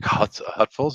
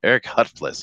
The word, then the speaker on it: Huffles: But anyway, Eric Huffle says, did I say that right? Eric Huffles? Yeah, it's Huffles. Eric Huffles.